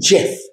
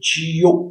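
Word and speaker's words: Geoff: পারছিল না জি ই ও এফ এফ এটার উচ্চারণ হলো জেফ জি তো ওরা বলছিল জিও আমি বললাম না এইভাবে উচ্চারণ করা হয় না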